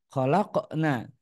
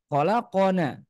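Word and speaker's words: خلقنا: derajat qalqalahnya sangat tipis khalaqna Jangan sampai kita baca tebal qolqolahnya sehingga menyerupai huruf qof yang berharakat fathah seperti laqod khalaqona khalaqona nah ketika kita bacanya khalaqona maka artinya berubah sangat eh drastis khalaqna kami Allah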